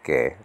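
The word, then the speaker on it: καί: translate this greek word kai nowadays pronounced gay in modern greek you don't say kai you say k and so that's our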